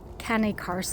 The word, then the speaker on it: Cane Corso: Oh, a can uh Cane Corso or some people pronounce it can caro or something like that.